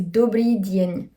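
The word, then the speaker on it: Dobrý deň: Le D, avant le E et le I, il est toujours prononcé dans sa version faible. Ce ne sera pas prononcé de, ce sera prononcé die. Donc c'est pour ça. Donc là, c'est Dobry Dien.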